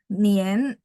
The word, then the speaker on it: nian: Nah, Nien dia bacanya E gitu ya, tapi tulisannya harus N-I-A-N nih, Sinien N-I-A-N ya.